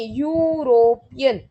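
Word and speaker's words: European: यूरोपियन country, तो क्या बोलती है? यूरोपियन, या के लिए ए आएगा।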